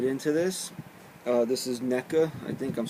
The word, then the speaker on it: NECA: giant NECA capitalize that you see NECA I don't know maybe they say Nessa but I just call it NECA I've never heard an official pronunciation on it but it's their Rambo